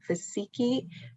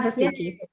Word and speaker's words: Vasiki: I believe the name is Vasiki. Please correct me if I am pronouncing that wrong, okay? I'm gonna allow you to talk. Are you there? Yes, I'm here. Thank you. How do you pronounce your name? Yes, your pronunciation was perfect.